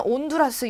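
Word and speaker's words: Honduras: 여러분들이 알고 있는 온두라스 영어 그 철자 보셨습니까? 그 스페인어 철자 보시면 영어로 써 있을 때도 혼두라스라고 적혀 있는데 앞에 H를 읽지 않아요.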